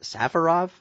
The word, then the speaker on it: Safarov: champ no dears at Safarov we are creative good a team but I'm pretty sure Safarov is the way you pronounce the last name no gear maybe that's